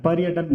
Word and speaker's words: पर्यटन: ये यण संधि है, और इस र का उच्चारण जो है य से पहले होता है, पर्यटन बोलते हैं इसको, ठीक है।